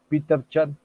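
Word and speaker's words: Peter Chen: esquema conceptual o esquemas de Peter Chan así se pronuncia es Peter Chan pues Peter Chan era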